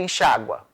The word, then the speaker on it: enxágua: e também do imperativo veja se forem pronunciados com a ou hipônicos essas formas devem ser acentuadas Olha o verbo enxaguar ó eu enxágo tô enxágoras ele enxágua enxágua enxágue enxáguez enxáguem ou verbo delinguir de